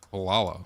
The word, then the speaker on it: Gualala: It's spelled Gualala. Oh, so it's not Walaw Wala. It's not Wala. It's Washington. It's Wala. The G is W. Invisible.